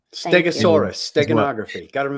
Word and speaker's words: steganography: what it's it's actually stenography is a much more uh genography i'm sorry i'm saying it wrong stegosaurus steganography got a room the g the hard g in there somewhere is a differentiator um but gematria is